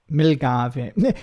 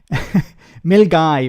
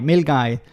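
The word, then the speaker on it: Milngavie: absolute disaster uh my mom is in um milave I I think some people are writing the these names because uh they're trying to get me to mispronounce um very naughty mil guy mil guy uh start of the the West uh West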